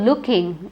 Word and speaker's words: looking: her blue pullover now the word looking again has a double O but don't say it as looking it is shot ooh she was looking looking see the way I say it I don't say looking I don't stretch it I said look